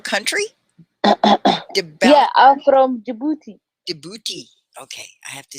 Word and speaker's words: Djibouti: Djibouti.